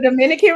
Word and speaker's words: Dominica: I'm going to the Dominican Republic. Because there's 2 places. There's Dominica also. Right. That's not pronounced that way, ma'am.